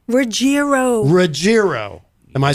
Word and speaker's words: Ruggiero: Ruggiero.